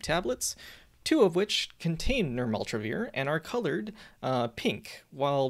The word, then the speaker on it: nirmatrelvir: which is really hard to say but it's pronounced nirmaltravir and retonavir this drug comes in packaged kits